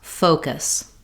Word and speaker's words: focus: Let's look at how to pronounce focus. We have first syllable stress, and letter O in American English is a diphthong, meaning it slides.